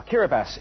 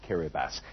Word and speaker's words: Kiribati: closer look at it incidentally it's written kirati as you can see but it's spelled kiribas it's made up of